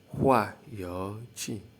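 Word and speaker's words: 化油器: Carburetor is pronounced as hua yo qi, hua yo qi.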